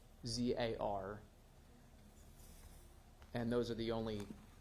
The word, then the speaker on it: Huizar: matter is Elias, and I believe the last name is pronounced Huizar. I stand willing to be corrected if anybody wants to correct me on that. I believe it's Huizar. It's Huizar, and those are the